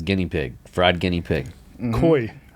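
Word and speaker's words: cuy: local dishes is guinea pig fried guinea pig Koi Koi as they pronounce it C yep so I got to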